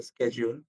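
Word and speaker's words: schedule: শিডিউল এটার আরেকটা উচ্চারণ হচ্ছে স্কেডিউল। শিডিউল উচ্চারণটা ভুল। শিডিউল হচ্ছে ব্রিটিশ উচ্চারণ, স্কেডিউল হচ্ছে আমেরিকার উচ্চারণ।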